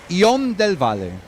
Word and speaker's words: Ion del Valle: La pronunciação seria Ion del Valle.